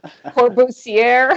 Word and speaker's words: Le Corbusier: How do you say that, Ksenia? Le Corbusier? That's what I said. That's basically it. Corbusier. I just didn't add all the.